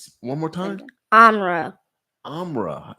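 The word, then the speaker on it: Amhra: be speaking oh okay now what's your name amelle sorry about that amra one more time amra amra spell that for me a m h r a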